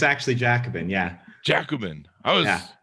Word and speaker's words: Jacobin: me on the pronunciation of that yeah i butchered it when i started writing for them but it's actually jacobin yeah jacobin i was not close anyway so uh give